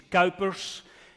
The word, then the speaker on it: Kuipers: My parents told me it's Kuipers, and the rest of the world is struggling with that, but I can live with that.